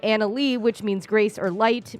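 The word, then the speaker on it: Annaly: Now, the name is Anna Lee, Okay. but it's spelled Oh, no. A-N-N-A-L-Y.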